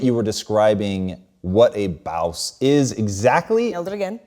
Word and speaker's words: Bawse: Speaking of making it up as you go along, so your book, How to Be a Bawse. Yeah, nailed the pronunciation.